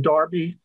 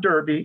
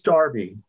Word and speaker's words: Derby: to school in the darby that is the correct pronunciation of d-e-r-v-y by the way in britain uh it's not derby it is darby and the famous race